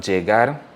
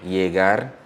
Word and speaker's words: llegar: So we have llegar, llamar, llave. That is the J sound. But if I wanted to pronounce it like a Y, it will be llegar, llamar, llave. And if you're from Argentina, you'll pronounce this llegar, like a SH, llamar, and llave.